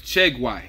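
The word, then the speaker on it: Tieguai: So his name is Chiegui. That's how you say it.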